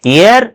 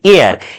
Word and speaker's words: heir: Year means air this is not here students this is air.